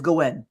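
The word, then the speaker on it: Gwayne: I think they pronounce it Gwyn. Gwen. Yeah, it's it's Gwen.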